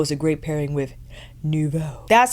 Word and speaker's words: Nouveau: I feel Paradise Glow is a great pairing with Nouveau.